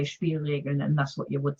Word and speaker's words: Spielregeln: How's the pronunciation? Spielregeln.